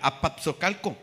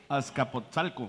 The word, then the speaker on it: Azcapotzalco: Se pronunciará así, compadre. Apapsocalco. Azcapotzalco.